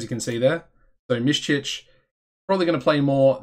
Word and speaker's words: Miščić: This guy is going to become a superstar, Miščić. That is how you pronounce his name. He is half Bosnian, as you can see there. So Miščić, probably going to play more than his counterpart, Locklear, who is the Locklear.